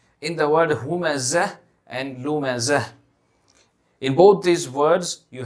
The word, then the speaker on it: لُمَزَة: Humazatil lumazah, lumazah. In the word lumazah, you will see that there is a ta over there, a ta mudawwara, a circular ta.